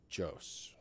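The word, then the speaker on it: Joos: And then I would like then to advise the first speaker tonight, Byron Jose. Got it right, didn't I, Byron? I got it right, didn't I, Byron? I said Jose. It's spelled J-O-O-S.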